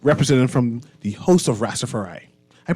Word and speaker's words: Rastafari: Just now, we had members of the Royal Bahamas Police Force on, but now we have some representatives from the host of Rastafari. I pronounced that right?